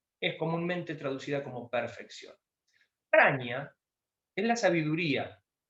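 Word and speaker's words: Prajñā: El modo de escribirlo es así, con esa J, Prajna, pero la J no se pronuncia.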